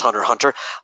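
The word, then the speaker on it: Hunter × Hunter: of hunter x hunter you're not supposed to pronounce the X for some reason apparently it's just hunter hunter I because of the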